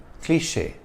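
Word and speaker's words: cliché: my viewer showroom kundu cliche the acute accent over the e is a clue to the French origin of this word without this accent the word would have been pronounced cliche in French a cliche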